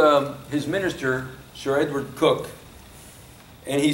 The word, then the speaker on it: Coke: uh sir edward you pronounce his name uh cook it's spelled coke but we didn't didn't have any coke then there wasn't any pepsi either but but you pronounce it cook sir edward cook was the primary author of